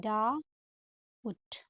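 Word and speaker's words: doubt: अभी हम यूज करेंगे डी ओ यू बी टी है ना तो यह बी तो साइलेंट है तो हम कैसे लिखेंगे डा उट नेक्स्ट हमारा है देखो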